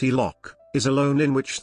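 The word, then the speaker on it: HELOC: line of credit or helic pronounced e-lock is a loan in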